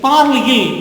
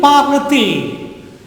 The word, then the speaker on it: parle-t-il: So I add a T in the middle. That T doesn't carry any meaning. Pronunciation sake, parle-il, there is a break in the pronunciation. Okay, so for the continuous pronunciation, we make it into parle-t-il.